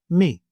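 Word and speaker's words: μι: This is the name for this letter in Greek, and it has the same sound as we have for the letter M in English, as in the word man.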